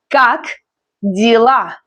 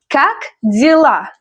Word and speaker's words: Как дела: Как дела? Stress on the last syllable. Repeat after me. Как дела?